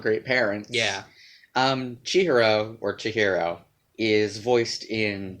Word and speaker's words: Chihiro: from from your best friend Rumi uh-huh and she hero is our main character yeah I I don't want to correct you because the film does this - mm-hmm I'm pretty sure that name should be pronounced Chihiro Chihiro but everyone in the movie says she